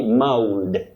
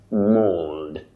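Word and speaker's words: mauled: Now, you don't say mold. M. the best or the good pronunciation if I may use the word correct and that is mold mold with a lot of a u when I talk about a diagramraph I'm talking about a combination of two letters representing one sound like a and u in this case represent the long sound o mold thank you so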